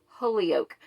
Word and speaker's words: Holyoke: by polly holly holyoke i've i've watched several videos of people pronouncing your name and it's polly holyoke and um i have